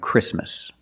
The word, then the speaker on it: Christmas: And when you see T between consonants, it's silent. Don't pronounce the T. If you link the sounds, do not pronounce the T. Examples: exactly and Christmas.